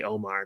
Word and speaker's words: Omar: I would just say Omar because it was just easier to do that rather than say it how it is like Omar which is harder for people to pronounce and then if you